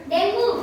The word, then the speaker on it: dengue: इसकी जो प्रोनाउंसिएशन है वो डेंगी है, डेंगी। इसकी स्पेलिंग है DENGUE, है ना। तो जो इसकी असल प्रोनाउंसिएशन है, जो इसका सही उच्चारण है वो है डेंगी, है ना। लेकिन साधारण बोलचाल में हम डेंगू बोलते हैं, कोई दिक्कत नहीं है, हम साधारण बोलचाल में डेंगू भी बोल सकते हैं जब सब